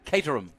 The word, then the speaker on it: Caterham: learned how to say uh word Caterham right cater him all right yeah don't say it like it